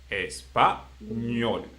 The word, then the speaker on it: español: Okay, español, L consonant, español, the last one.